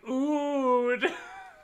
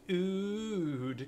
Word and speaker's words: Eudes: told him I would it's pronounced like oud I'm gonna call him that from now on Duke oo days oh you're right but it's French the S might be silent French is me Duke